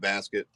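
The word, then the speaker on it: Baskette: You mentioned Elvis Basket, right? The producer. Yeah. Is that how you say it, Basket?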